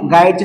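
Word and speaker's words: guide: लक्षात घ्या अगदी त्याचप्रमाणे गाईडची सुद्धा आहे गाईड या शब्दाचे वाचन करत असताना आपल्याला यु हा लेटर सायलेंट ठेवायचा आहे लक्षात घ्या आणि त्याच्यानंतर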